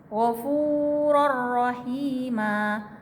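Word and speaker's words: غفورا رحيما: Misalnya contoh ghafurur rahima, ghafurur rahima.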